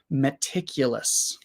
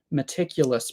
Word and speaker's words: meticulous: thing meticulous um and I'm not sure if the first sound is really an e sound or awah sound so let's check meticulous pronunciation I think it's an e sound meticulous pronunciation meticulous no okay so it's I guess it's not it's not an e sound um so this word is interesting because there are three schah sounds in this word every vowel is awah